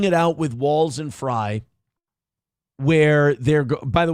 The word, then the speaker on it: Frey: __ ] about Minnesota, they call him Frey. I heard Tim P calling him Frey. It's like, "Dude, you're laring." His name's His name's Fry. I know it's spelled differently, but if you're actually